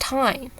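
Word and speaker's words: Thyme: It's pronounced Time. I have to remind myself, it's not pronounced Theme, it's pronounced Time.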